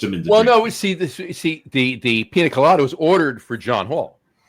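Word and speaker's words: piña colada: Did he call it a pina colada or did he call it a pina-lada? No, it's pina colada.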